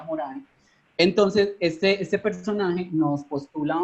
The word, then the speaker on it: Morin: una cita de Edgar Morin, o Morin, como le dicen algunos, yo creo que como es francés se pronuncia Morin.